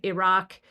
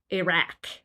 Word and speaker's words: Iraq: looked, for example, at how the vowel in Iraq and Iran are pronounced. And so that would vary between Iraq and Iraq. And anybody can hear that difference. Right. Or Iraq.